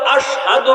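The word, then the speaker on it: أشهد: আজান তো শুদ্ধ না কেন কই বেলাল তো আশহাদু বলতে পারে না বেলাল বলে আসহাদুশিন উচ্চারণ করতে পারে না আশহাদু কয় না কয়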